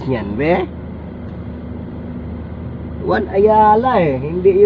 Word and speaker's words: Ayala: kaakit dala ka Ayala Ano ba talagang tamang bigkas niyan be Ayala hindi y Ayala so y Alam niyo na